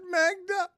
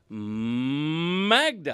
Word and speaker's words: Magda: Dan, you're not saying it right. No, it's Magda. That's how you say it.